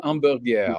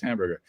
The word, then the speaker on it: Hamburger: guy named Jean Jean Amur which spelled hamburger but is not pronounced hamburger and he was another